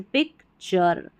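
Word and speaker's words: picture: तो कोई भी इंग्लिश की स्पेलिंग जिसमें टी यू आर ई मिल जाए तो इसको टूर या टर नहीं पढ़ना है। चर पढ़ देना है। ठीक है? जैसे पिक चर ने चर फ्यू चर कल चर।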